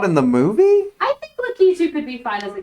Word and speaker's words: Lakitu: Lakitu was not in the movie? I think Lakitu could be fine as a cameo. Chat, how do you all say that name? Because it's Lakitu.